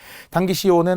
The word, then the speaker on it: 당기시오: 근데 발음은 요도 돼요. 발음은. 허용이 돼요. 이 종결형과 비슷해요. 그런데 표기는 오로 적으라는 거죠.